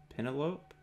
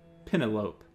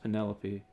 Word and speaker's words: Penelope: you pronounce her name pentelope why you're not pronouncing her name right do you realize that you're saying penne like the pasta and lope like a dog running across a field lope he gave me